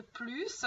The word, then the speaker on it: plus: On ne prononce pas le S de plus devant un adjectif ou un adverbe. Jean est plus grand qu'Antoine.